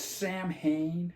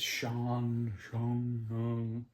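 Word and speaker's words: Samhain: And it's Sam Hain. And I know that's not how you pronounce that, but that's how it's spelled. I think it's Sean.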